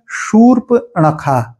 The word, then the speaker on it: शूर्पणखा: ही बात है लेकिन यह तालव्य स के साथ होता है शूर्पणखा ठीक है ये शूर्पणखा यहां का उच्चारण बहुत ध्यान देने योग्य है सर्प के साथ नखा भी लिखा हो सकता है वो भी चल जाएगा पर ये जो स है वोह तालव्य स ही होना चाहिए एक शब्द है ब्रिज